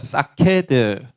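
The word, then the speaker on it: שָׁקֵד: 하나 있고 이거 차이입니다 그래서 발음이 정말 비슷한데 사캐드는 아몬드고 사카드는 치키다입니다 자 지금부터는 여러분들 히브리어를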